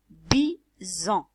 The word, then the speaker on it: bison: bi on ajoute en vous allez me dire pourquoi c'est pas sans parce que ce SLA est placé entre deux voyelles ok entre deux voyelles